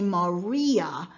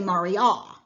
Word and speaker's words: Maria: i stressed it but you would pronounce it ave maria rather than for example ave mariah and so when he